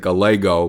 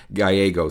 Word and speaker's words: Gallego: his name it's it looks like almost like Galo but he is is of a Mexican descent so it's actually pronounced gyo so Mike gyo born October 31st uh 1960 so just recently